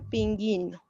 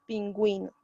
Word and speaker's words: pingüino: de crema pingüino ya si lo pongo así sería pinguino luego ponemos diéresis pingüino recién pasamos con el